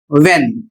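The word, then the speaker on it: when: है कहां next word W एच ई एन इसे भी लोग गलत तरीके से पढ़ते हैं और इसका सही उच्चारण होगा व्हेन और इसका अर्थ होता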